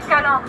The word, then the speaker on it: Calanche: Ça s'écrit Calanche, mais ça se dit Calanque.